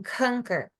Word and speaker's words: conquer: Ele vai falar essa palavra, ele vai falar bem pronunciada ali, ó. Esse K, lembra do schwa, do comecinho? CO. Então, conquer, conquer, tá?